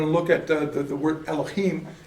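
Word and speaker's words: אֱלֹהִים: Like when we're going to look at the word Elohim, it's not Elohim, it's Elohim. See? I still want to do the chim thing.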